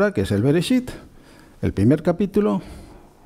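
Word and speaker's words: בראשית: Ahí está la letra Yod, que no se pronuncia, es una letra auxiliar. Y finalmente la letra Taf. Bueno, Bereshit. Bereshit, que se traduce como en un principio, no en el principio.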